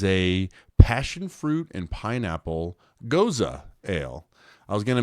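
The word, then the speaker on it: Gose: have pronounced it, but it's Goza is the way you'd say it.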